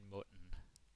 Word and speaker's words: mund: You could say, så åbnede han munden. Very dramatic. Så åbnede han munden. Yeah. Then he opened his mouth. Så åbnede han munden. Mund. The D is silent.